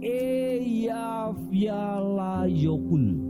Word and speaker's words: Eyjafjallajökull: J-nya itu dibacanya Pak Y gitu loh, ya. Jadi Eyjafjallajökull. Kira-kira begitu.